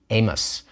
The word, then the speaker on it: Amos: name with an i and we call him Amos we don't pronounce the I and we just go right